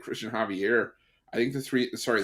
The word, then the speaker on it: Javier: do you think it's Javier you gotta roll you gotta roll the r at the end Javier isn't it like the Castilian Spanish where he gets a really like Hawk